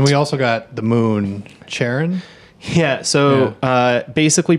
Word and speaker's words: Charon: his wife Charlene so he says that you pronounce it like Char as you were going to say Charlene and then on so Charon okay and that like